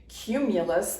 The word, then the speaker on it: cumulus: introduce to your child cumulus begins with a hard C Sound cooker and cumulus clouds